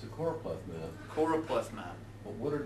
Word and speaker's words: choropleth: only latin i know most undergrads want to say chloroplath or chloropeth and i'm just introducing that to mess with your heads because now you'll not know how to say it no but it's choropleth c-h-o-r-o-p-l-e-t-h plethod's value i